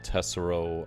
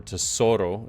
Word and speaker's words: Tesoro: Nami we don't have Guild tessero I believe or Tesoro excuse me that somebody was correcting me in my stream the other day that I was mispronouncing that and uh I also